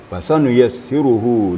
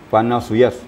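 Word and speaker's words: فَسَنُيَسِّرُهُ: Fasanuyassiruhu lil yusra. Tadi dibaca fanasuyas. Apa tadi bacanya ya? Kurang pas ya. Jadi cara mengantisipasinya adalah sesudah fa itu adalah sin, fasa. Itu. Jadi ingat aja fasa.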